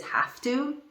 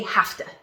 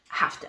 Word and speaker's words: have to: in a different way we push the sounds together okay when you use